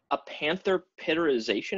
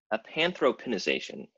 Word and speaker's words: Apanthropinisation: help on that one a panther pitter ization is that you said a panther no a Panthro pen ization I thought the word